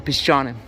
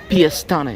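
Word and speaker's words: Piešťany: Piešt'any is written, but it's pronounced as Piešt'any.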